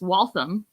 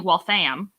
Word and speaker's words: Waltham: first couple of years, I called a place Waltham because that's how it's spelled, and it's apparently Waltham. I'm like, well, okay, I'm wrong there, which it wasn't horrible. That's just like I didn't have the right spread of the vowel.